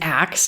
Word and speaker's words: acts: They brought an axe to chop down the tree. They sound exactly the same. And what's happening here is in the verb A-C-T-S, that T sound is dropping away.